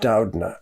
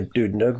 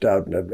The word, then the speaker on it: Doudna: to indicate that my last name was actually pronounced Doudna. Oh, sorry. Even though it looks like a Doudna, but it actually is pronounced Doudna, at least by the Doudnas.